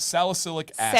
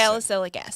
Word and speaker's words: salicylic acid: Salicylic acid. Salicylic acid.